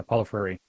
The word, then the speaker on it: Paulo Freire: How do you pronounce his last name? Yeah, Paulo Freire.